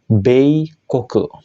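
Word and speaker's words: 米国: negara Kuni ya minasang maka dia akan dibaca be koke yang artinya Negara Amerika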